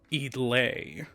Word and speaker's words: i-dle: No more GIDLE, it's just I-dle.